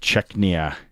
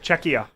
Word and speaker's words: Czechia: This evening, Canada, Czechnia. Did I say it right? No. What? You keep adding an N. There's no N. It's just Czechia.